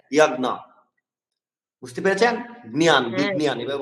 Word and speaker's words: যজ্ঞ: বিজ্ঞান নিয়ম, যেমন ইয়াজ্ঞ, যজ্ঞকে কিভাবে উচ্চারণ করবেন, যজ্ঞকে ইয়াজ্ঞ।